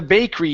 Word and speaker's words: bakery: From the bakery he owned. From the bakery he Okay. From the From the bakery he owned. Uhhuh. So here, let's not pronounce that E. It's bakery. Bakery.